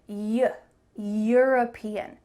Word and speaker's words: European: Eu-European. It actually starts with a Y sound.